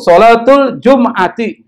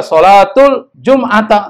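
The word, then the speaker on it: صلاة الجمعة: Jadi kalau baca tuh sholatul Jum'ati, nggak boleh sholatul Jum'ata, nggak boleh. Apalagi sholatul Jum'atu juga nggak boleh.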